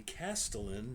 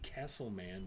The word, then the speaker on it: castellan: goblin named blard and the castellan not the Castleman Wilbur the castellan Willem ferric um pronouncing